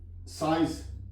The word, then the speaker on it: science: For example साइंस, SCIENCE, यहां पे एस साइलेंट है।